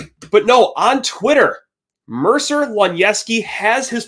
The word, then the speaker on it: Luniewski: be way easier than that you know that pronunciation can be quite quite the obstacle course for yours truly over here but hey Lon yeski we get to talk about them what's the